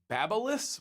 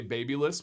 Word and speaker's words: Babyliss: I have a Babyliss, which is the proper way to say it, because I actually met one of the company higher ups at the Barber Expo. Some people say Babyliss, which is what I used to say, but I use a Babyliss.